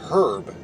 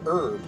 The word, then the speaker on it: herb: one medicinal herb herb I hate how the H is silent for the longest time when I was younger I I was pronounced pronounce it pronounced it herb as in the name